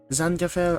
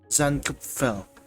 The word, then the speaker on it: Zankapfel: Zankapfel, I believe, is a German word. So according to Google Translate, it's supposed to be pronounced as Zankapfel. But Tagalog po ako, Pilipino, so Zankapfel.